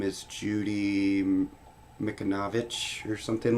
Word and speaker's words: Mikovits: Mikovits. Thank you, Aspen, for the pronunciation.